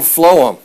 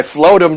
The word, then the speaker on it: phloem: down in a plant is called phloem and that's how you say it it's not like pushing a whole bunch of sophomores off a cliff and you say i float them down the hill that's not it phloem flows downhill what